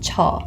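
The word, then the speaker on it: 저: my pronunciation errors so pronounce it a little bit more like a ch so here we have cha and in order to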